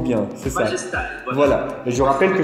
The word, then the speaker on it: MajestEYE: Le nom, j'ai du mal à le prononcer, Majestai, si je prononce bien, c'est ça. Majestai, voilà.